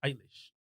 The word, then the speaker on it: Eilish: Eilish.